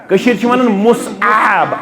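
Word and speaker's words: Mus'ab: तारीख पंडित जवाहरलाल नेहरू हिस्टोरिकली मुस बिन उमर मुसब असल लफज़ मुसब असल लफज़ क्या मुसब सही प्रोनाउंसिएशन के असल प्रोनाउंसिएशन क्या मुसब मुसब बिन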